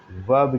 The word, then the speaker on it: verb: हैं सेंटेंस में, वही वर्ब कहलाते हैं। ओके, यहाँ पे प्रोनाउंसिएशन भी याद रखिए, VERB, आर साइलेंट है, इसलिए इसको आप साउंड करेंगे, वर्ब, इस आर को साउंड नहीं करेंगे।